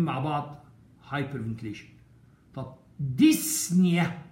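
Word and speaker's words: dyspnea: طب ديسنيا، وهنا البي سايلنت يا اولاد ما تنطقش، يعني ما نقولش ديسبينيا، مش عاوز العبط ده، ديسنيا كان ما فيش بي، ديس في اللغة يعني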